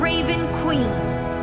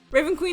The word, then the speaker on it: Raven Queen: have to say this raven queen rhymes with jason dean so every time i